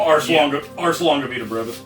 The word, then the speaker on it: Ars Longa Vita Brevis: The second album being, how do you pronounce this? Arlonga Vita Brevis? The name of the album? Ars Longa Vita Brevis. Ars, okay.